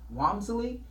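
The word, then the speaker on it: Walmsley: get this Timothy arm when he pronounces his name Wamsley will handle the case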